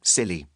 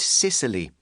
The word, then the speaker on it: Scilly: islands as just plain silly. No sniggering. It may be pronounced the same as silly with a silent C, but giggle at your own peril. Nor is it Sicily, which has considerably more takeaway pizza outlets, mafia, and donkeys.